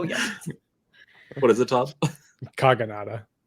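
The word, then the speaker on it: Kogonada: already forgotten oh yeah what is it Todd kagada kagada Perfect all right so let's just hop right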